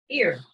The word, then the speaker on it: ir: I don't know how exactly to say it, but I know it's spelled with IR. Ear. That's how we say it, ear.